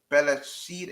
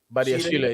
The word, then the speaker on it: Badiashile: They've also shown they've obviously looking at Bella-Sheila. Who's the centre back for Monaco? How do you say it? Badiashile, yeah.